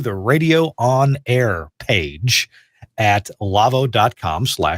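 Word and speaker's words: Lawo: the the spelling love it's la wo like la whoa but it's pronounced Lavo la wo dot-com / twerked so when you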